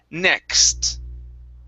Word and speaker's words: next: same type of thing we're going to end with the t instead of saying nes it's next okay next good good